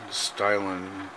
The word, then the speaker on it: Stynylrez: To let you know, it was bare plastic when I put on the Badger Stynylrez. I'm sure if you say it properly and fast, it sounds like a really wet sneeze.